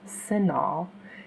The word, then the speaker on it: CINAHL: You will see that CINAHL plus with Full Text (pronounced "SIN-ALL") is the first one in the list.